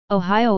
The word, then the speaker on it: Ohio: Ohio derives from Seneca, an Iroquois language, as their name for the Ohio River / Allegheny River, Ohio. This is pronounced Ohio, with the I sound being held an extra second.